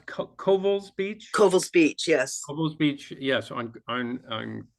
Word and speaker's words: Covell's Beach: United States, is coming ashore at is it pronounced Covell's Beach? Covell's Beach, yes.